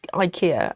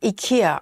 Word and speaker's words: IKEA: is, you know, my bed is IKEA.